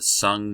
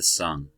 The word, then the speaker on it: Sung: Alright, so now on to the Sung Dynasty. I know it's spelled like song, but it's the Sung.